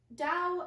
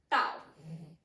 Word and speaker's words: Dao: So in China, this symbol, that symbol, is pronounced Dao.